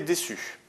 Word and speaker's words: déçu: il a été déçu alors par défaut le c devant le se prononce durement se prononce que c'estàdire avec un ça fait Q mais là on veut que ça fasse donc on rajoute une SD donc il a été déçu c'est SD en lisant ce devant